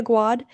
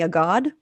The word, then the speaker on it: Aguad: who don't know me my name is aguad if you mispronounce it and say a god i will accept that it sounds very grand it happens often uh